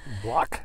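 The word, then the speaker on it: Blaak: I don't know, it's spelled B-L-A-A-K in Holland. Block.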